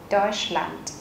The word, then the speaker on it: Deutschland: Deutschland. Các bạn chú ý trọng âm là âm EU ở đây, Deutsch. Và ở đây chúng ta có âm SCH. Các bạn sẽ đọc sh.